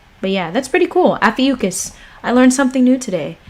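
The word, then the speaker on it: Ophiuchus: E u because that's how you say it afiucus alrighty Alpha yukis the serpent Bearer or Snake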